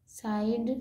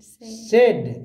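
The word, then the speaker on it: said: ज पढ़ेंगे यूज यूज साइड साइड नहीं इसको साइड नहीं पढ़ेंगे से सेड क्या पढ़ेंगे सेड सेड Mona Mona that is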